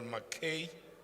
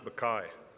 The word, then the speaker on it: Mackay: Let's call on stage Honorable McKay. Good afternoon, Chair of Chairs. It's pronounced Mackay.